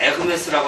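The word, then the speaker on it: Hermès: 하데스는 그냥 영어로 발음해서 하데스고, 불어로는 아데스라고 발음하는데, 그러면 헤르메스를 불어에서는 에흐메스라고 하는 거와 같아요. 이 H가 발음이 안 돼요, 불어에서는.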